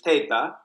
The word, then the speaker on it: Teta: No one hold this against me, but my name is Italian, Teta. So the pronunciation is Teta. Yeah. But in Spanish, Teta is slang for breast, and so I think they changed the name when I came to the United States to Teta.